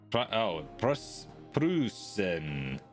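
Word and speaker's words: Preußen: Rather than as like an English speaker would pronounce it, Prussia. Pressure pushing down on me. Maybe get a Prussia. Prussen.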